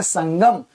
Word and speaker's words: संगम: तो आपने क्या देखा कि यहाँ पर अनुस्वार का उच्चारण मां के रूप में हो रहा है, जबकि यहाँ पर अनुस्वार का उच्चारण न के रूप में हो रहा है। इसको आप पढ़ रहे हैं संबल, इसको पढ़ रहे हैं संगम।